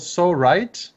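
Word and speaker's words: Psorite: It's called So Right, but it's spelled PSO Right as RITE.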